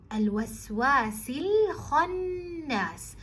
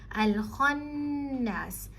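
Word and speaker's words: الخناس: You say al-waswasi min sharril waswasi, and then al-waswasil khannas. Again, the kha is a heavy letter and the noon has a shadda, so make sure you are giving it enough time. Al-khannas min sharril waswasil khannas.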